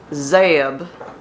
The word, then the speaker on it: Zeb: name works so no her name is not Zeb like Deb it is Zab like a country chicken so I stand corrected